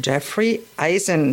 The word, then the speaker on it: Jeffrey Eisen: Today, I'm very pleased to be with Jeffrey Eisen. Do I pronounce it right?